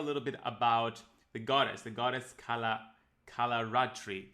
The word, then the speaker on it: Kalaratri: Can you share a little bit about the goddess Kalaratri? Did I pronounce it correctly? Yeah, you did. Kalaratri. Good job.